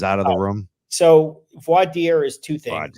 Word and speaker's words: voir dire: So voir dire is two things. Say that again for me. I want to. Voir dire. I'm never going to be able to pronounce that. VOIR. Voir dire. French, voir dire.